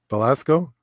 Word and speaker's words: Belasco: How do you pronounce his name? Belasco. Yeah, there's a theater, the Belasco Theater.